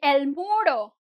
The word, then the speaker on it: muro: the wall, you'll say el muro. El muro. You won't say muro. No u. Like, not the double U sound at the end. Just try to say, if it ends with O, it ends with O.